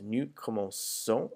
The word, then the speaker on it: commençons: that does is it makes the C sound soft. So just as if it was coming before an I or an E. So now it's nous commençons as opposed to nous commençons. So je commence, tu commences, il commence, elle commence, nous commençons, vous commencez, il commence, elle commence. So it's just to maintain that sound pattern.